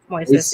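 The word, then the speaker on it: Moisés: Moises. Yeah. See, I thought the I would have been silent. I thought so too, but that's how everyone else pronounces it.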